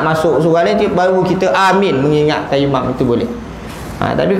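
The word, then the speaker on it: آمين: Pertama, memanjangkan sebutan alif serta meringankan sebutan mim. A-nya panjang, min. Yang kedua, memendekkan sebutan alif serta meringankan sebutan mim. Amin. Pendek aja, amin.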